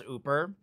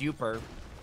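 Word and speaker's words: Yooper: Everyone from up here says Ooper. Well, in Metro Detroit, everyone says Ooper and spells it Y-O-O-P-E-R.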